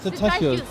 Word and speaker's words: Cetáceos: Rota dos Cetáceos. Cetáceos. Cetáceos. We've been saying it wrong all along.